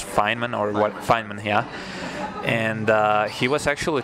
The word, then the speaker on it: Feynman: And I think I actually once, during my high school physics lessons, I watched a lecture from Richard Feynman, if I pronounced it correctly. I think it's Feynman, yeah.